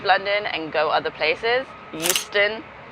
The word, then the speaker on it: Euston: Euston, like Euston, we have a problem. But without the H.